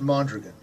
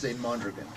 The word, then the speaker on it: Mondragon: name is easiest pronounce Mondragon okay I heard Mondragon yesterday everybody sure was Mondragon just to make sure he's just a spell if you say falling dragon Mondragon well because I don't want